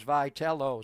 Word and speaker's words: Vitello: I mean honestly we didn't even know how to pronounce his name and it is Vital.